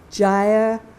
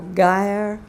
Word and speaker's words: gyre: this is of the fruitless gyre or geyer of life i think both pronunciations are correct a gyre is a